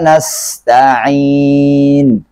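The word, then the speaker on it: نَسْتَعِينُ: Di sini pakai sin. Terkadang ada yang saya lihat baik daripada murid-murid saya yang bacanya belum benar, bacanya pakai shin. Nasta'in. Nah, ini adalah kesalahan yang sangat fatal, ya. Karena dia sudah menyimpang daripada bacaan asli Al-Quran itu sendiri. Karena di sini adalah menggunakan huruf sin.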